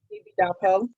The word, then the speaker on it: Ididapo: Ididapo. The I's sound like E's, but Wanda's fine.